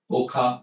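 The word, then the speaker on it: Okha: I think Pushima is managed that and um so 20 miles from Gara is a very quaint coastal town Oka Oka that's how you pronounce this Okaoka then 20 minutes from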